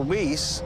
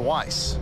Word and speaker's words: Weiss: heard it yeah so rather than Dr whis it corrects you to say Dr Weiss sure I'm probably not